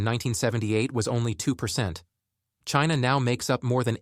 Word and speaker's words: Qin: the Chinese word chin it is written as Qin but pronounced as Chin Chin was the name